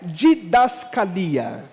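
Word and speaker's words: διδασκαλία: querendo dizer para Timóteo a palavra original usada na escrita é uma palavra que a pronúncia dela é didascalia nome bonito né serve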